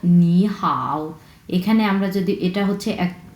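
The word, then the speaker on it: 你好: হাও নি হাও ওকে এখানে নি শব্দটাতে তিন নাম্বার টোন এবং হাও এই শব্দটাতেও তিন নাম্বার টোন সো দুইটা শব্দ যখন পাশাপাশি তিন নাম্বার টোন বসবে তখন প্রথম ওয়ার্ডটা হয়ে যাবে দুই নাম্বার টোন এটা শুধুমাত্র প্রোনাউন্সিয়েশন এর ক্ষেত্রে প্রোনাউন্সিয়েশনে আমরা দুই প্রথম ওয়ার্ডটাকে আমরা দুই নাম্বার টোন প্রোনাউন্স করবো এবং দ্বিতীয় ওয়ার্ডটা কোন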